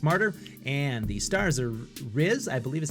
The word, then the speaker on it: Riz: hearing directors darius martyr and the stars are rizz i believe is how you say his name